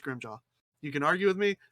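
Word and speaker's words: Grimmjow: he's like blood splatters grim jaw grim chow you his official name is pronounced grim jaw you can argue with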